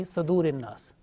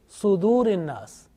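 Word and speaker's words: صدور: Now this Sad, sometimes pronounced unintentionally with Fatha, like Yuwaswisu fi Sadurin Nas. So make sure that this Sad, whenever you teach to others, this Sad with Dhamma. Okay? So it means Sudurin Nas.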